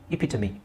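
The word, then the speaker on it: epitome: ಹೇಳ್ತಾರೆ ಎಪಿಟಮ್ ಅಂತ ಹೇಳ್ತಾರೆ ಬಟ್ the actual pronunciation is ಎಪಿಟಮಿ ಎಪಿಟಮಿ ಅದು ಯಾಕೆ ಹಂಗಿದೆ ಅದಕ್ಕೆ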